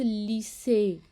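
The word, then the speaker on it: lycée: जैसे कि लफ्ज़ लीसे, लीसे, म्यूज़े। अब यहाँ पे देखें, जो लीसे के आखिर में प्रोनाउंस हो रहा है, लीसे ए प्रोनाउंस हो रहा है, नहीं हो रहा। ये वाला प्रोनाउंस नहीं हो रहा, ये प्रोनाउंस हो रहा है जिसके ऊपर एक्सेंट है, और इस एक्सेंट को ए पढ़ते हैं, इसलिए हम इसे यहाँ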